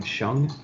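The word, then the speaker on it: Hsiang: that's used uh the individual's name was brian shung and that's spelled h-s-i-a-n-g and then i had two other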